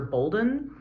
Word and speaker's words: Bolden: But as you already know, my name is Professor Bolden. It's pronounced just like golden, regardless of the spelling.